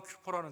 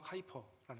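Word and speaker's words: Kuyper: 그 사람의 이름은 아브라함 큐퍼라는 사람이에요. 한국말 카이퍼라고도 발음하는데 아브라함 큐퍼, 아브라함 카이퍼라는 사람.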